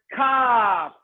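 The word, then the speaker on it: כּ: So the Kaf that has a dot inside has a cough drop that heals your, and then you can pronounce Kaf, clear. Kaf, clear. The Chaf doesn't have the dot inside, and therefore it's a bit of a sore throat. You sound hoarse.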